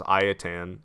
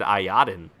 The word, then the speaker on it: Ayatan: pronounce the I heard pronounce it as iatan and ever since then I've been like yes I can actually say I attend and feel like I'm pronouncing it properly because in the past I said ayatan which is just incorrect all right retrieve the